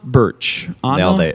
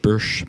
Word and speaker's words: Burch: how do you say your name Burch Burch Burch common mispronounced as an approach yeah Burch Burch Burch lots of it so anyways we before